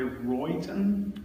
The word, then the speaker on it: Rowayton: Tell me if I'm pronouncing it correctly, Royton, Connecticut? Yep, it's an Indian name, as most towns in Connecticut are. Darien, Rowayton, Massachusetts, Nantucket, all the tribes that are no longer with us.